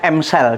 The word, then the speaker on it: EM cell: Tulisannya EM cell, bacanya M cell.